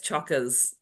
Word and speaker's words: chockers: So it's like it's spelt like choker, but with an A on the end, like you say, it's chockers.